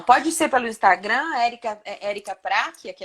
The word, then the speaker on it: Pracchia: O CC no italiano tem o som do que o E. Então é Prachia.